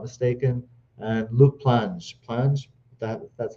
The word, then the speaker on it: Luke Plange: They brought in another right winger named Malcolm Ebiowe from Derby County, if I'm not mistaken, and Luke Plange. That's how you pronounce it.